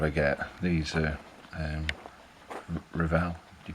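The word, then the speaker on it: Revell: and see what I get these are um reval you pronounce it with Revel I never hit so but they're the ones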